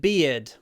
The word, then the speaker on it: beard: Ian has a weird beard. So this name Ian, okay, it has the ear sound, like in idea, right? Idea. And that's the sound in weird and beard.